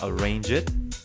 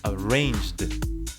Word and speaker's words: arranged: It is not arrange it or arranged. No, it's arranged.